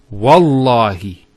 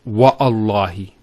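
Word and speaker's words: والله: it, and we say Wallahi, this waw here is actually known as Waw al-Qasm, the waw of swearing an oath. So when we put this waw, it's Wallahi, not Wa'allahi.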